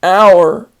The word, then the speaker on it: hour: What hour is it? O-U-R sounds the same, and that is our, for example, our house.